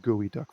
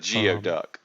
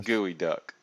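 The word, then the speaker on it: geoduck: it the geo but it's pronounced gooey duck for some reason gotcha gotcha oh the gooey duck here gotcha got the workshop just so people would pronounce it correctly instead of geo duck right it's a gooey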